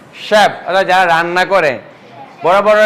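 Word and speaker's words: chef: শালেট শালেট parachute parachute shaft chap বললে হইবো না চলে হবে না ক বললে হবে না শ্যাপ যারা রান্না করে বড় বড় রেস্টুরেন্টে যারা রান্না করে তাদেরকে বলে শ্যাপ ওকে মেশিন শ্যাম্পেন ব্রুশার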